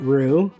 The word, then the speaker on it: roux: We got roux.